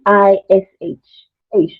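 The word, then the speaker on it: eish: it's spelled e h it's spelled e i s h and when something something something unpleasant happens um like something annoying or something surprising you'd say ish I'm sorry like you'd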